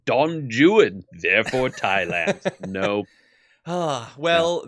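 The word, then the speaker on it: Don Juan: and fixed it actually in Shakespeare Dawn Juan is pronounced Don Jan therefore Thailand nope ah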